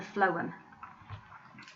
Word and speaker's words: phloem: remember which ones which think phloem think of the sound at the beginning phloem food now one of these tubes